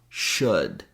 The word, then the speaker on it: should: Also, yoke, folk, could, would, should. In fact, these three last words, we only have 3 sounds in each. And the secret to pronouncing could, would, and should is knowing the sound in good.